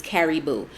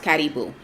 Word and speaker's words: karibu: and it's for, if you want me to just pronounce it like how an American would read it, is caribou, but it's pronounced karibu.